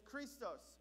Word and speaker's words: Christos: it every single week christ in greek highlighted in red there is christos okay that's how you pronounce it and its definition is